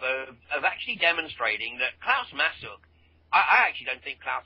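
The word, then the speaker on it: Masuch: That's Klaus spelled with a K. Masuk is M-A-S-U-C-H. Klaus Masuk.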